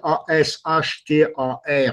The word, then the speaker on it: Asthar: Ashtar, d'abord, on le voit écrit A-S-H-T-A-R sur le net, en fait. Le nom de ce groupe est A-S-T-H-A-R, Ashtar, ça se prononce de la même façon.